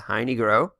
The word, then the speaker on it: Heine Groh: That's how you pronounce it, Heine Groh.